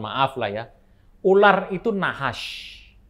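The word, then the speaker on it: נחש: Ular itu nahash. Tentu saja ingat tidak ada huruf vokal di sana karena ini Ibrani, tapi bacanya nahash.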